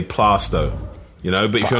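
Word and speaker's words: Plaistow: I say, if you're really from East London, you say Plasto.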